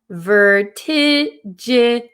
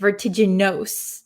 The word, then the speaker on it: vertiginous: So in English, a lot of the times, the end of the word, if it has vowels, it's going to sound like a short I sound. So this I, vertiginous. We're not going to pronounce it vertiginous.